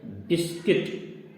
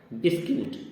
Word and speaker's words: biscuit: इसी प्रकार अगला शब्द आ रहा है बिस्किट, तो लिखा जाता है बिस्कुट, बिस्क्यूट, लेकिन बोलते हैं हम लोग बिस्किट, BISCUIT।